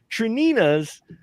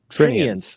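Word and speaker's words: St. Trinian's: Trinina's, which Trinians. Thank you. I still missed. I am horrible at pronouncing names.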